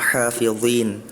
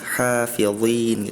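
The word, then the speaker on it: حافظين: Wama ursilu alaihim hafizhin. Tadi huruf zha-nya terdengarnya seperti huruf zai, zai. Bukan huruf zha itu istila tebal. Terus juga berharakat kasrah. Jadi bacanya hafizin gitu.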